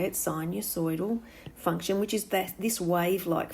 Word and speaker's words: sinusoidal: Circular functions give you what we call a sinusoidal, that's how you say it, sinusoidal function, which is this wave-like function that looks like this.